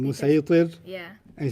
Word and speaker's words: مسيطر: Musaytir. Yeah. And he says, you said musaytir. And he says, Yeah. no, it's sad, but it's pronounced sin.